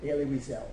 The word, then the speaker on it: Elie Wiesel: material about a liras l at I you pronounce his name elie wiesel and he's a significant person in the film